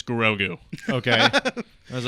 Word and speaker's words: Grogu: all looked at me and they're like, "It's Grogu."